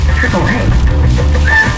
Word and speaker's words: AAA: There's one name you can count on, and it's actually pronounced AAA.